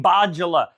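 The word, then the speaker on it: Bjalla: for Greylocks, aka BJ Bajala. His name is spelled, don't laugh at me, B-J-A-L-L-A. Some of those letters are silent.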